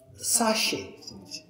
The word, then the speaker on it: sachet: kachi french twin yeah how we pronunciation ka sashe yeah t silent sound t silent sound then